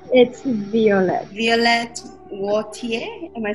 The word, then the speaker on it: Violette: Is it Violette or Violet? It's Violette.